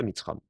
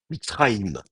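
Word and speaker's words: מצרים: Un vrai mitzram, bon, d'abord, en plus, de toute façon, on ne prononce pas mitzram. Donc, l'autre solution, ce serait de lui mettre un shfa. Mitzraïm.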